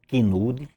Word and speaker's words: Kenwood: E Vicente comprou um tal de um som Kinude. É Kinude a pronúncia? Tem um K, um N, não sei quantos O's e vai em frente. Muito bonito. Kenwood.